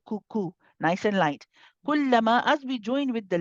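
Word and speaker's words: كلما: Kullama, again, just be careful that you're pronouncing this ka from the right place. It's very easy to pronounce it as a kullama, kul, ku, ku, ku. You want to make sure you're in front of the makhraj of the qaf. It's on the hard and soft palate.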